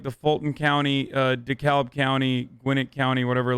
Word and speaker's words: DeKalb: closer than in georgia don't pronounce the ellen dekalb okay sorry are are our